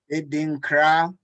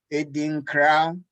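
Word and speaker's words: Adinkra: Feel free to say them along with my dad as we pronounce these. Edinkra, Edinkra, Ekuwah, Ekuwah, Ashanti, Ashanti, Ekuwah, Ekuwah, Fante, Fante, Kawano Pado, Kawano Pado, Sankofa, Sankofa, Sankofa.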